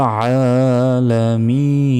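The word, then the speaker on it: الْعَالَمِينَ: কি বলতে হবে রব্বিল আলামিন আলামিন আ এখানে এক সেকেন্ড টেনে পড়তে হবে এবং আ অক্ষরটা গলায় চাপ দিয়ে উচ্চারণ করতে হবে রব্বিল আলামিন আলহামদুলিল্লাহি রব্বিল আলামিন আর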